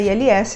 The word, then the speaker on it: ILS: Nem todas as siglas na aviação são faladas soletrando com o alfabeto fonético. Algumas delas, que é o caso de ILS, nós falamos letra por letra do alfabeto convencional. Então, para pronunciar ILS, nós falamos ILS.